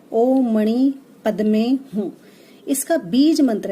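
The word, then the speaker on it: ॐ मणि पद्मे हूँ: जो माने मंत्र है उसका जो प्रोनाउंसिएशन है वो इस तरह से है, ओ मणि पद्मे हूँ।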